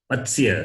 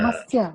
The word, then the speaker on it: Matsya: Matsya. Yes, Matsya. You add ma before that, becomes Matsya. Matsya Oh, Avatara. Mastya.